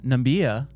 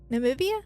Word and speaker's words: Namibia: He's the reelected counselor of Aunja uh constituency which is uh in the Oshana region north uh northern uh Nambia. Namibia.